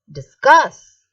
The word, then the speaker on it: discuss: people are talking it is a verb okay discuss i hope you're understanding it now once again